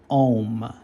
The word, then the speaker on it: Om: often called the letter, which is pronounced as Om. Okay, now let me just go over that briefly and then I'll begin the reading. Okay, so Om is composed of 3 letters or 3 sounds.